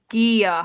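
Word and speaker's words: G'iah: Next we decided Gia, not Gia. Gia. Gia, hard G. Hard G.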